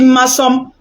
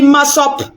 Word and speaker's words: Massop: Elle n'a pas dit Massop. Elle vous a manipulé. Elle a répété même pour que vous compreniez bien que ce n'est pas mon nom qu'elle prononce. Massom, ce n'est pas mon nom. Massom, ce n'est pas mon nom. Donc, si tu es une guerrière robuste, il faut dire Massop. Mon nom, c'est Massop.